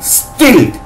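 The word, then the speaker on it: stilt: শিখেছি এসটি আবার দন্ত শয়টয় স্ট স্ট এই উচ্চারণ করো দন্ত শয়টয় স্ট সঙ্গে আইএলটি ইল্ট এস টি আইএলটি স্টিল্ট street না।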